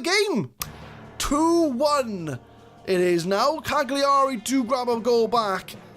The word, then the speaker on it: Cagliari: sub but we'll watch the highlight play out Cagliari I hope that's how you say it because